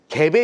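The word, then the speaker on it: Gap: 캡 아세요? 김진 씨 몰라요. 캡이라 브랜드를 잘 모르더라고요. 요즘 분들은. 근데 이강모 대표님 알아요? 캡? 캡요? 갭 갭 갭이라고 읽어 되나?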